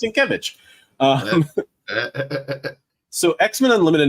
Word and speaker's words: Sienkiewicz: It's pronounced Sienkiewicz.